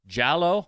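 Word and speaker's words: giallo: okay I guess it's jallow okay which is it's it's Italian for yellow so I guess it makes sense it kind of sounds like yellow yeah that makes sense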